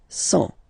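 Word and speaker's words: cent: and the last one, 100. Remember, final T not pronounced.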